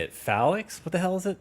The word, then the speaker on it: Phalanx: Phalanx? What the hell is it? How do you say it, Hugo? Phalanx, Jesus.